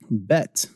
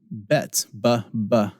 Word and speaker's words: bet: letter and it's Olive bet bet bet makes a B Samba and that's the first one we talked about earlier the other version of it is vet vet vet so Olive bets vet is the first